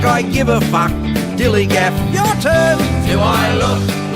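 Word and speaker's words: DILLIGAF: That's spelled D-I-L-L-I-G-A-F, dillygaff, and this is what it means.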